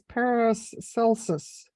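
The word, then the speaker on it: Paracelsus: wanted to say that it's pronounced as Paris Celsius thank you so much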